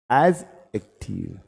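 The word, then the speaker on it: adjective: हां देखो यह होता है एडजेक्टिव एज एक्टिव एज एक्टिव पढ़ते हैं एडजेक्टिव द पढ़ते हैं ड साइलेंट होता है ठीक है फिर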